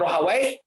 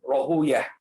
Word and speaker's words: Rahawayh: ya, atau Ishaq bin Rahawai, bisa dibaca dua, ya, Rahawai atau Rohuyah. Kebanyakan alul hadis membacanya dengan Rohuyah, ya, karena kalau dibaca Rohawai ini menurut sebagian mereka adalah nama syaitan atau nama iblis, sehingga mereka menjauhi penyebutan wai, sehingga bacanya Rohuyah.